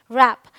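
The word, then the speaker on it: wrap: Rule number 2 कहता है अगर W के बाद R है तो W साइलेंट होता है।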